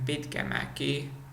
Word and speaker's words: Pitkämäki: But then for me the most challenging letter in Finnish was a, like in Pitkämäki, or like hämärä, or pissäköydä. This letter is something that Germans would pronounce maybe like as like what could be like Mädchen can be example, or I don't